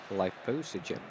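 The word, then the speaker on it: Lithosagym: Lithosogym. That's how you say it. Lithosogym. Lithosogym. Lithosogym. I'm pretty sure you could say Lithosogym as well. Lithosogym. That's easier for me.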